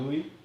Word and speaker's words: Liu: So it's Lou. Okay, for sure. Well, that's what it is in Japanese. You got it. I got that. Liu. Simu. Oh, it's Liu. Liu. Is that an accent on the I? Hmm. No, On it's the just U. a I. On the U.